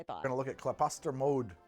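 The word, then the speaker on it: Klaposter Mjød: I'm gonna look at claposter mode that's how you pronounce that plaster mode this is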